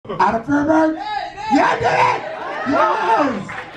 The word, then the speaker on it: Feuerberg: In German, it's supposed to be pronounced Feuerberg, which means Fire Mountain, which is kind of like a tough, cool name. Somehow, when my family immigrated to America, it became Feuerberg.